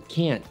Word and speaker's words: can't: Even though the A sound in can't is pronounced more clearly than in can, it actually is kind of a shorter vowel. That's because there's a T at the end of the word.